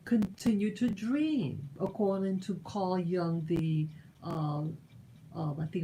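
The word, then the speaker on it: Carl Jung: german guy but it's the j is pronounced like a y carl young is his name yeah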